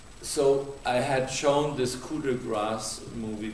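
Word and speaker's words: Coup de grâce: I had shown this Cuda grass movie Cuda grass is how we say in French it's called KRA in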